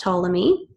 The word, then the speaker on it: Ptolemy: different ways Claudius Ptolemy see how it's pronounced Ptolemy was an Egyptian mathematician